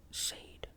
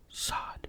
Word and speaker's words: Sade: She pronounced it with the long A, as if it were an English name. Sade. "Sade," he instructed.